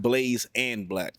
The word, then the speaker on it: Blaze X Black: But, it's pronounced Blaze and Black. Okay. I was like, uh-oh. It might have been No, no. The X is the and.